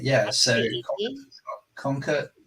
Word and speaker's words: Conker: Conker, spelled with a K, Conker.ai, and we have